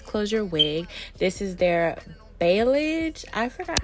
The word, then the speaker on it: balayage: This is their balayage. I forgot how to pronounce that.